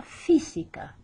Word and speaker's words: física: That accent at the very beginning there over the I makes us pronounce it la física.